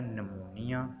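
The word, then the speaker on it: pneumonia: जैसे साइकोलॉजी, अब यहाँ पर देखें हमने पी को साइलेंट कर दिया। इसी तरह नमूनिया, यहाँ पर भी पी को साइलेंट कर दिया।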